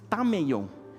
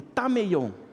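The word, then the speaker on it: ταμεῖον: Essa palavra lugar, que as traduções, a maioria traduziu como quarto, é uma palavrinha grega que se pronuncia tameion. Então repete comigo, tameion.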